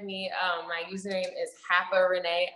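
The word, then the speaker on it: haparenee: um my username is hapa renee a lot of people who mispronounce it they say harper but it's h-a-p-a-r-e-n-e-e hacker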